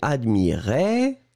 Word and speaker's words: admirait: deux je regarde oui le premier admirait qui monte et le deuxième admirez qui descend d'accord admirait admirez vous